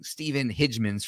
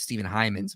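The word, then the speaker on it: Heymans: that all the time I was staying stepen hans's for years even though it's Steven heyman's apparently but when I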